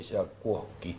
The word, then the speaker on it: Yabkowski: Jackowski, así se pronuncia.